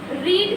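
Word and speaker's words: read: रीड रेड रेड रेड बट the spelling is same.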